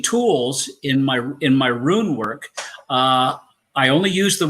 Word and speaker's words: rune: themselves and it's and it's pronounced rune it's not ruins ruins are broken down buildings ruin room correct once